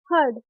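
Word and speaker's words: herd: हर्ड, दो consonant के बीच क्या आ रहा है हमारा ई आर, तो क्या प्रोनाउंस कर रहे हैं आ के रूप में।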